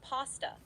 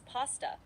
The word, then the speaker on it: pasta: Both pronunciations are used, but the more common pronunciation in English is pasta with a soft a sound like in father. However, some people do pronounce it as pasta with a short a sound like in cat.